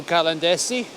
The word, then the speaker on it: Caladesi: we made it to calendar see that's how you pronounce it anyway we're still walking